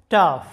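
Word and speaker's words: tough: এরপরে দেখো লাফ যেটার বাংলা অর্থটা হচ্ছে হাসি এরপরে দেখো কাফ যেটার বাংলা অর্থটা হচ্ছে কাশি এরপর দেখো টাফ যেটার বাংলা অর্থটা হচ্ছে শক্ত বা শ্রমসাধ্য।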